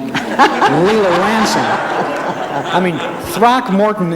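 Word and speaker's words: Throckmorton: program who could say throck Morton like Lea Lanson I mean throck Morton is three syllables right that's right but you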